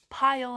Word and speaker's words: pile: neat pile for me pile has the ending sound oh oh and it's made by the letter L I remember this magic ethat a is silent and all it does is just tell that letter I to say its name I pile so the last sound you hear is the L pile and we're gonna blend